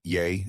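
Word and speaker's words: yea: The fact that yay as in yay or nay is pronounced like yay but not spelled like it.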